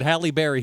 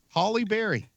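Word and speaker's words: Halle Berry: gets Angelina Jolie right but haly Barry he screws up I don't know what did I say I said Haley Barry that's still wrong yeah that's not how you say that Holly Berry move on nope Holly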